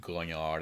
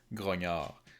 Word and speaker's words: grognard: It's grognard. It's not grognard. It's a French word, and if you pronounce French as it's written, well, you're doing it wrong.